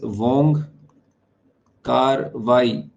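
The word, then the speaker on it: Wong Kar-wai: by some Hong Kong writer his name is Wong car car k a r hyphen w a i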